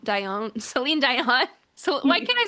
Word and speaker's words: Dion: were getting from the 80s like the Selene Deion. Dion.